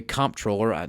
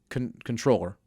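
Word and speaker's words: comptroller: it's the the controller, people want to say comproller, no it's controller. Bob Bolick made it clear. It's pronounced controller um that they're going to be able to not give money to private Muslim schools.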